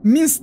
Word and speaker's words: Minced: Minsk diye okunuyor arkadaşlar.